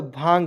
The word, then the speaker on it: भांग: उसका देखिए बी एच ए एन जी, ठीक है, बी एच ए से होता है भा, एन को छोड़ेंगे जी से ग लिख दीजिएगा, एन का उच्चारण ऊपर बिंदी के रूप में, यहाँ देखिएगा भांग हो जाएगा, क्या हो जाएगा भांग, भांग।